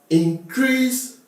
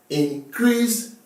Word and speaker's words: increase: Increase my minimum wage. Increase the minimum wage. Increase the minimum wage. This is actually an increase.